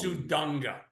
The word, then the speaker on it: Suda: do you say it say it like we do it sud suda wait to see him at